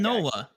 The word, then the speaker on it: Nola: a half foreign strikeouts how do you say his last name is it Nala it's not Nola I really don't know Nala Nola you said Aaron yeah it's Aaron Nola come on now I